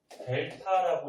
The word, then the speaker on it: 델타: 요거 읽을 때는 델타라고 읽어주고 뜻이 뭐냐면은 변화량이라는 뜻이에요.